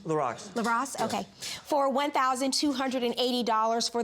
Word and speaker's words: LaRock: LaRock.